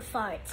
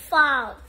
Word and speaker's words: fart: Fault. Fart. No. Fart. It's, you're saying fault. Because it's like your fault.